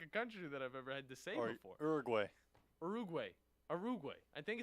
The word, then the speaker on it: Uruguay: knew this country you know I'm bad at pronunciations you are u-g-u-a-y what is that one let me huh Uruguay ugaree I don't know why I'm having Uruguay yeah